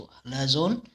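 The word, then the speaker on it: Halazone: तो ऐसे करके ये हलाजोन, देखो हाथ धोने, ऐसा बोलिए हलाजोन को, हाथ धोने, हाथ धोने से ऐसा प्रोनाउंस करिए इसको, हलाजोन, हाथ धोना, सैनिटाइजर।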